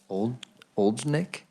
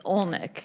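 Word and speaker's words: Olejnik: Action for Children, Oldnick. How did I do? It's a great thing to be able to break the ice, of how to say my name. It's Olnick. You ignore the J.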